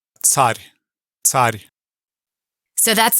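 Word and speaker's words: царь: talk about the word, in English we pronounce it czar, coming from Caesar, but I would love for Sergey to pronounce that word in Russian, and you just listen for the ts at the beginning of it.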